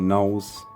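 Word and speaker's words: Knollys: to marry lottis or lettuce nollies or Knowles as the modern pronunciation is said and that um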